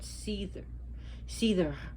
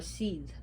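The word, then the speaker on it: seiðr: He was taught Seether, or Seed, depending on where you pronounce it, by the goddess Freya.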